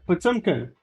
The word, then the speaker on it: Potemkin: Yeah, Potemkin.